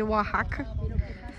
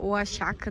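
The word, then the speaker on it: Oaxaca: E essa parte aqui, em princípio, é para ser dos povos de Oahaca, aqui no México, akaca, né, que se escreve oakaca, muito bonito.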